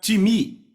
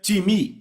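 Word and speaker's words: τιμή: vem da palavra grega ti me então soletra-se t i m e em português pronunciamos talvez time não se pronuncia dessa forma em grego se pronuncia te me repitam time Ok então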